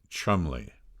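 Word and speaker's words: Cholmondeley: Home Chumley is spelled Hume, home, Cholmondely, Chumley. For those of you unfamiliar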